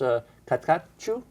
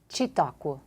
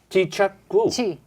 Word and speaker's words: Çitaku: ambassador from Kosovo, uh Valora, and is it pronounced Katku? Chiakqu. Oh, give it to me again. Chiakui C I T A K U.